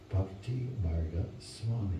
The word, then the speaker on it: Bhaktimarga Swami: And his name is, let's see if I can pronounce it properly, Bhaktimarga Swami.